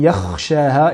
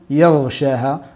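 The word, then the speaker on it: يخشاها: a été dit précédemment, c'est bien man yakhshaha et non yaghshaha. Donc on va bien prononcer la lettre ra et ne pas la prononcer lettre rain.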